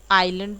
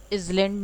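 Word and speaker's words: island: फिर आइलैंड बोलते हैं आप, इजलैंड नहीं बोलते हैं, इसमें भी बहुत लोग को प्रॉब्लम होती है।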